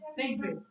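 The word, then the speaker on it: segue: Next pronunciation is सेगवे.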